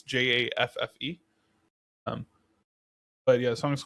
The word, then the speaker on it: Jaffe: know, it was Clementine by Sarah Jeff. Okay. I believe that's how you pronounce her last name. It's Jaffe.